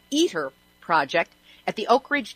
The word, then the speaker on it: ITER: international thermonuclear experimental reactor or ITER pronounced eater project at the Oak